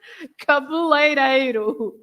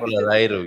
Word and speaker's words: cabeleireiro: And the one that is always a nightmare for every English-speaking person is A, the EI together, right? The EI, which is A, like in that dreadful word, cabeleireiro, right? Cabeleireiro, yeah.